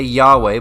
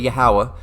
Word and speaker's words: Yahweh: abbreviate it all right and they say Yahweh but it's really yahawa so let's go here